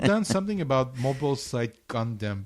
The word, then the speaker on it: Gundam: Well, some stuff I wrote down something about Mobile Site Gundam, but it's Mobile Site Condom. What? No, Gundam.